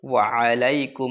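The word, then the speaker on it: وعليكم: ওয়া আলাই আইন এই যে আছে এখানে আইন উচ্চারণ করবেন ওয়ালাইকুম আসসালাম ওয়ারাহমাতুল্লাহি ওয়াবারাকাতুহ তো এই দোয়াটিও আবু দাউদ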